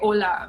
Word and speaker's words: hola: pronounced in spanish that's hola we don't say h yes spell h-o-l-a but h is usually silent in spanish so you don't say the sound huh and so you say ola but the the letter